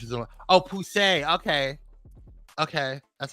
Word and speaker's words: Poussey: Oh, Poussey. Okay, that's how you pronounce it.